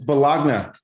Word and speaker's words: bologna: have yeah where yeah how you spell it b-o-l-o-g-n-a it's bellogna yeah there's no loney in there bro i don't know the